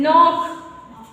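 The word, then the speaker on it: knock: जाएगा ओके के साइलेंट ए से पहले के साइलेंट होता है जब कभी क्या होगा एन से पहले के आए तो क्या हो जाएगा के साइलेंट हो जाता है जैसे एग्जांपल नॉक के तो कौन तो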